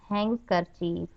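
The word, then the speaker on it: handkerchief: हैंकरचीफ, हैंकरचीफ रुमाल। यहाँ पे डी साइलेंट बोलेंगे। हैंकरचीफ रुमाल।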